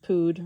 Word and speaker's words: pood: Um footnote pood rhymes with food.